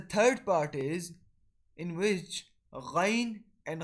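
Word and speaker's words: غين: So the word letter Ghain and Kha are originated from the top of our throat, from the part of our throat which is close to our mouth.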